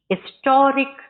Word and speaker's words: historic: This is dash historic occasion. This is dash historic occasion. Historic. Here, what is the pronunciation? It is silent. Historic. Vowel sound.